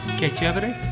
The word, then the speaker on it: Que Chevere: And how do you pronounce it? Say that again. Que Chevere.